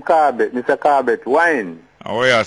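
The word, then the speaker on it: Whyne: Corbett Wine. Oh, what you say? So my relatives and they can't pronounce the wine, some say Wayne.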